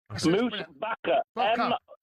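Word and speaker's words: Moosbacher: Pronounced moose bcka. Moose baka.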